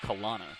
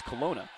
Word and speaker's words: Colona: L A N A, which you'd imagine would be pronounced Kana. I said, "Hey, how do you pronounce your last name? Is it Kana or Kina?" And she goes, "Oh, it's Colona." Like Corona with an L.